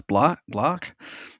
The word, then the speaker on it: Blacc: It's Black.